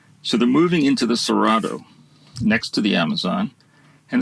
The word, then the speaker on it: Cerrado: It's called the Cerrado. It's a Portuguese word, Cerrado, pronounced Cerrado.